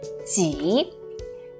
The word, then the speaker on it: 己: Alright, the one on the right with a shorter last stroke is pronounced as 己.